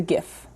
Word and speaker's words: GIF: parrot exists as a gif with a hard g i traveled to the